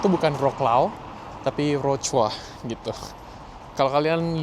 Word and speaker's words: Wrocław: Selamat datang di Wrocław.